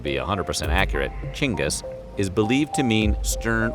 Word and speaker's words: Genghis: while most Westerners say Genghis with a hard G that's incorrect in Mongolia the G is soft so it's actually pronounced like this chingus jingis but we're gonna go